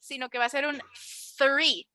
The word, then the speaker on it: three: just as a reminder we're not going to say three we're going to say like a d sound like a like you're biting your tongue three great three three two